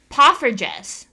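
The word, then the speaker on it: poffertjes: Oh, it's pronounced pufferess.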